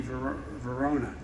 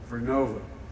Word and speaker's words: Vernova: COSA makes wind towers that's going to go into turbines made by GE Verona. Excuse me, I mispronounced it. Vernova in Florida and New York.